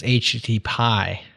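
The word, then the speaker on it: HTTPie: two go back more modern than those is HTT Pi HTTP i e is how you spell it and that's like just a very Stark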